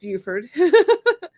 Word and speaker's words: Buford: David says, there are many different ways to pronounce it's spelled BUFFORD. But Buford, of course, compared to the way people say Beaufort, North Carolina, Buford. So yeah, it's so many different ways. So I just go with Buford.